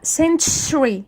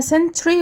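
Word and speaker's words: century: تي يو اتنطق تش فانا بقولها سنشري سنشري ناس كتير بتقولها سنتري وهي غلط هي اسمها سنشري لان هي مئ عام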